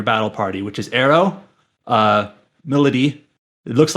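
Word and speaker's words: Milady: You meet the other three characters that join your battle party, which is Arrow, Melody. It looks like the name looks like My Lady, but it's pronounced Melody, and Saizo.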